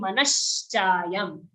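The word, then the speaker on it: मनश्चायं: Manashna has those red lines. That's why we're saying manaschayam.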